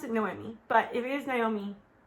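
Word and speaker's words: Noemí: I thought her name was Naomi this whole time, but actually... I thought I was pronouncing it Noemi, and the only reason I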